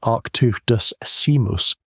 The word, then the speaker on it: Arctodus simus: Arctodus simus, pronounced Arctodus simus, the short-faced bear, stood something like 11 or